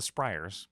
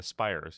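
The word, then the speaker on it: Spyrers: Last but not least, the Spires, which I keep mispronouncing the Spryers because they are spry, but no, they're the Spires. It's like a spire, but with a Y.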